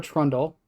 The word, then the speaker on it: Trundle: uh for from Bubba trundle uh I always say their name wrong it's Bubba trle trundle there's no l okay there's no l